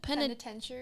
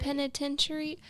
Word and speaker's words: penitentiary: How do you say Penentary? penitentiary.